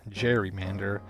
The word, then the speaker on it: gerrymander: This backstory is also why I've been pronouncing it as gerrymander throughout this whole video, instead of the more common gerrymander.